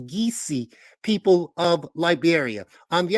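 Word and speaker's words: Kissi: the geesi that's geesy k i SSI is pronounced geesi people of Liberia on the other hand gulla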